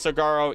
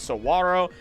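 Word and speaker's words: saguaro: This all relates to the cigaro cactus which you may have heard pronounced as sigaro even by me because I only recently learned how to pronounce it which is sawro and considering it is native to Mexico we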